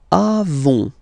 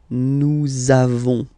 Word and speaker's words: avons: Then, nous avons, final s, not pronounced.